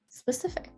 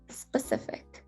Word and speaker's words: specific: of out of breath if you pronounce it as specific it's going to be really hard to get all of those sounds out so take it easy on yourself relax pronounce the word calmly specific specific specific and